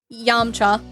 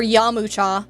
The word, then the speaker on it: Yamcha: So, another Dragon Ball character, we have Yamcha, or Yamucha, how it's said in some of the subs.